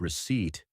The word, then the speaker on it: receipt: And don't even get me started on the word receipt. There's a P hiding in there, too. Silent, invisible, like a ninja.